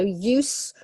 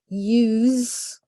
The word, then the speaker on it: use: got we've got use gotta be careful with the pronunciation here so use for the noun use for the verb it has a Z sound and then yet again